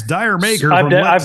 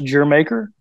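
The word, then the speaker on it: D'yer Mak'er: because I was chastised uh I'm like that's dire maker yeah that's the way it's spelled right d-y-u-l d-y-e your maker Jamaica so it's pronounced your maker that's what I was told okay I was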